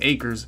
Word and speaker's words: Akers: told me that's how i say his name acres makes a big play and there's pat pete